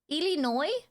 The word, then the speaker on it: Illinois: The S is silent. Illinois.